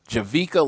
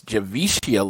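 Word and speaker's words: Javicia Leslie: day i met uh javika leslie uh excuse me i said it i realized i was saying her name wrong for the long time it's javishia leslie she is batwoman and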